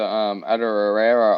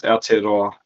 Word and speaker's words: Aotearoa: So the last game of the round until we wrap up onto Adarera Origin was the Yeah. ELV Warriors game. Adarera. Yeah, it's a New Zealand Origin basically. It's Aotearoa.